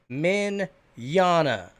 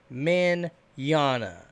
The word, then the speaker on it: Mignogna: this over and over it's men Jana Vic men Jana it's Italian okay oh my god why